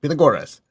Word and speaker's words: Pythagoras: And tonight we'll talk about Pythagoras, or what I guess in English, Pythagoras. Anyway, I was in Greece and they say Pythagoras. You have to say it right, Pythagoras.